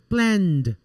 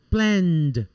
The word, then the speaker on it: planned: the verb is voiced we're going to pronounce the id like a singular d for example plan planned see only d plan planned play played call called i write eddie but i pronounce only as a d like a d okay differently than the